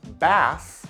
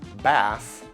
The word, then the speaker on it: bass: Next we have the words bass and bass. The first, bass, is a fish. Bass.